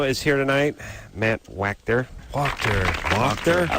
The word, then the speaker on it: Wachter: How do you spell that? It's phonetically, it's WOKTER. So walk-ter. Oh. Yeah. But there's no L I know in it. it's confusing. I've believe me Okay. for 29 German? years. Yeah. Yeah, W-A in Germany is Wachter.